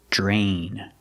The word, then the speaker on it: drain: We see dr together. It makes the jj sound like jump and juice. J- plus the r j. Drain.